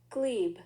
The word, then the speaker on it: glebe: Glebe. Dweeb? No, glebe. Oh, I thought you said dweeb. No, I'm like, glebe with a G.